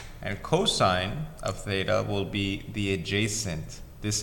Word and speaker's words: theta: This is how you pronounce this, theta.